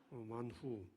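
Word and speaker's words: מן הוא: 센스있는 학생들은 캐치합니다 뭐야 이걸 히브리어로 하면 뭐예요 만후 요걸 한국적 발음으로 바꾸어 놓으면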